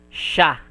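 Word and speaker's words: しゃ: So, this will be read as sha. She and ya, but you will not pronounce the okay, S-I, S, If it is not yon, it will be read as she and ya. But when you see this one, it is yon. H and I will not be pronounced. Okay, just sha. But technically, SH. Shh. It will be pronounced as sha. Okay.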